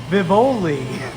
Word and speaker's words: Vivoli: It's Vivoli. Vivoli cannoli. It rhymes.